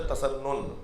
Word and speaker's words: تسنن: تسنن، چاہے اہل تسنن، صحیح تلفظ ہے تسنن، اہل تسنن، اہل سنت